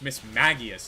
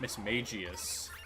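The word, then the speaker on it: Mismagius: I was like, "Yeah, and it's Miss Magius. It's not Miss Magius." He's like, "No, it's Miss Magius cuz she's based off of a mage." I'm like, "No, dude. It's Miss Magias."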